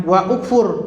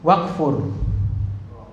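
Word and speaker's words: وَاكْفُرْ: ada wawu di depannya, maka ini bacanya jangan wa ukfur, tapi langsung wakfur. Nah, jadi kalau ada kata sebelumnya, maka bacanya langsung wakfur. Jangan wa ukfur, tapi wakfur.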